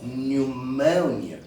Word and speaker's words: pneumonia: Et dans l'autre mot, nous avons pneumonia.